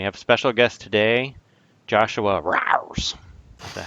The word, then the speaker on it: JoshuRAWRS: And we have a special guest today, JoshuRAWRS. Is that how you pronounce it? Hey, how's it going? I say it JoshuRAWRS.